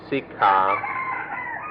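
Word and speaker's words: sikkhā: คำว่าศึกษาในภาษาไทยมาจากภาษาอินเดียบาลีว่าศิกขาสันสกฤตว่าศิกษามาเป็นภาษาไทยเราเรียกว่าศึกษาเราจะเอาความหมายเดิมของคำนี้มาทำความเข้าใจกันคือคำว่าศึกษา This word siksa in Thai comes from an old Indian word which in Sanskrit is pronounced siksha, or in the Pali language sikha, and we preferred to use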